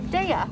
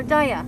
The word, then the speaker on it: Daiya: i told you about this brand deya or daiya however you want to pronounce it and they got more